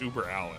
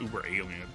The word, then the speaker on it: Uber Allen: It's Uber Allen, not Uber Alien.